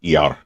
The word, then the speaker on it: IAR: Either one of them, uh, they pronounced the I A as a word ER. So either of those planes would just quickly be referred to as an ER.